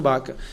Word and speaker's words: Vaca: E nosso gabinete está em contato direto com o grupo do Pedro Baca, com assessores do Pedro Vaca, mas pronuncia Pedro Baca.